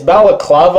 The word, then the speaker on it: balaclava: Now, I'm thinking back, I think I mispronounced the face covering. It's balaclava.